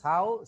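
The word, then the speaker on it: sow: এটার উপরের পয়েন্টে দেখো সাউ, এর উচ্চারণ হচ্ছে সাউ সিক্স out boards for mating.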